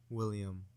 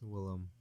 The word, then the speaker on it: Willem: By the way, his name's Willem Dafoe. Willem Dafoe? Willem Dafoe. Really? What'd you call him? William. Oh. It's Willem.